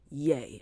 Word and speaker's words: Ye: he has now officially changed his name to yay okay and that's spelled y e for those who are confused